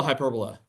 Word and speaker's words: hyperbola: It's a hyperbola, or hyperbola is how you're actually supposed to pronounce it. You actually all know a hyperbola.